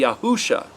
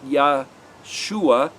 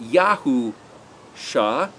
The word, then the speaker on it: Yahusha: the way it's spelled that would be yahusha not joshua not yah shuah but yahoo shah yo devov shining that's